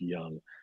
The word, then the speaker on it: Jung: manager there in eric jung it's j-u-j-u-n-g but it's pronounced young and uh he's a